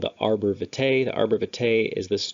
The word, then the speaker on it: arbor vitae: Arbor vitae means tree of life. Actually, it's supposed to be pronounced arbor vitae. I said arbor vitae before, but regardless, that's the cerebellum.